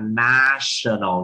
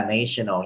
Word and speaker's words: national: Nhưng mà cái từ này các anh chị lại đọc là national, chứ không phải là national nha.